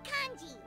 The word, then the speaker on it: congee: Let's say, loser buys the winner 3 huge bowls of seafood congee. Congee, that's how you pronounce it.